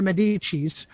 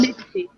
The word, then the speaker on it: Medici: There are more than enough De Medicis who are both popes who are supposedly celibate, and other De Medicis who are not, who can carry on the family name. So it's pronounced Medici. And that's very interesting that